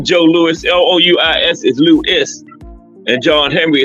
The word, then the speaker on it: Louis: Lewis you know names spelled differently actually they're pronounced differently like Joe Lewis l o u i s is Louis and John Henry is L W